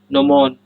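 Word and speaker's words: gnomon: जीनोमॉन, नोमॉन, जी silent है।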